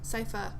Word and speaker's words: Sypha: Which can I say, like, Cypher? How do you say her name? Sypha. Okay.